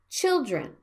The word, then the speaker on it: children: silently police not police children the first vowel is a stress syllable so it sounds like children and the last one